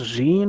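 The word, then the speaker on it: Jeanne: so good um wonder is it pronounced jeene or Jean Jean okay like Jean V Jean all right I believe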